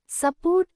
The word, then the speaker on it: support: Support su తేలికగా పలికబడుతుంది. Port మీద ఒత్తు ఉంటుంది. In support, su is pronounced lightly, not like the u name ju or the short u, and port has the stress.